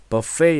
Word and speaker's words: buffet: 그리고 buffet 은 "buffay" 라고 발음 합니다 .